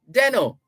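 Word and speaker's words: Desnoes: is why denno is spelled d-e-s-n-o-e-s but pronounced deno you don't pronounce the s it's a french name the most famous deno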